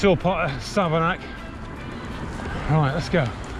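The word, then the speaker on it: Savernake: what I was saying there you go Sava nake Forest n-a-k-e bake make sake Lake take but apparently it's Sava knack all right so that's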